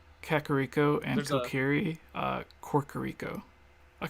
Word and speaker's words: Kakariko: quite correct and like my mom mispronounces that and says karaoke village for anyone who doesn't know karaoke village kakariko and kokiri uh corcorico